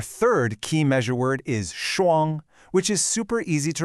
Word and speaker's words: 双: It's a high, flat tone.